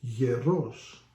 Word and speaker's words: γερός: on a different letter, if you put it on the O instead of the E, becomes γερός, which means strong, that I'm not.